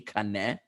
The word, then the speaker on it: kaneh: So kaneh, as I mentioned last week, in Hebrew, kufnun hey kaneh, is actually the same as the English word is C-A-N-E, which we pronounce cane, but is really from the Hebrew kaneh.